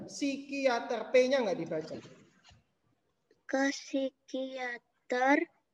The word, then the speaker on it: psikiater: Bacanya psikiater, P-nya nggak dibaca. Psikiater, P-nya nggak dibaca.